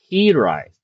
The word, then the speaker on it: Hiraeth: However um it's not uh it's based off the Welsh word that means homesick and it's actually herite. So that's how you pronounce the game.